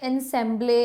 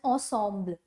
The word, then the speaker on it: ensemble: इसको हम प्रोनाउंस ऐसे नहीं करते एनसेम्बले या जैसे भी आप प्रोनाउंस करते हो, नो, we pronounce it एज ensemble.